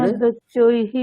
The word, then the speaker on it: বিনদ্যোচ্চৈঃ: পিতামহ নেক্সট বিনাদ্যোচ্চৈ বিসর্গ আছে, তাহলে বিনদ্যচ্চৈহি।